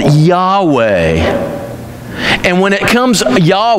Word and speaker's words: Yahweh: am why age wh it's supposed to be yahweh i will be who i will be the